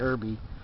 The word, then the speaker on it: Erby: to see rrb and it just sounds like Irby so it's spelled e-r-b-y so we're tying an